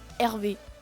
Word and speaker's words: Hervé: valise avec écrit RV, ce qui se prononce de la même manière qu'Hervé. On peut donc penser que cette personne s'appelle Hervé.